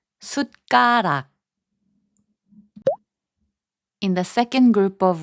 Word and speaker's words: 숟가락: 숟가락, which means spoon, is pronounced as 숟가락.